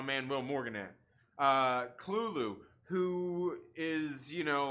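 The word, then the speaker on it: Cthulhu: not that it's probably um like dang it klulu there we go i said it right where's my man will morgan at uh cluelu who is you know like it's like the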